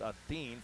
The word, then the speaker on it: Acin: Uh Claudia Athen, ACIN, but it's pronounced Athen.